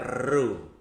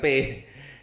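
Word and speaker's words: ρ: adalah massa jenis disimbolkan ini bacanya RHU ya. Seperti kecambah gini, RHU, RHU, bacanya RHU. Ya, bukan P. Ya, ini RHU.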